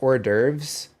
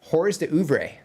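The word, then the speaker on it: hors d'oeuvres: So let's let's get um word this um it is not pronounced orves uh just so everybody is aware um because um those those letters do not make that sound. It's hor uber.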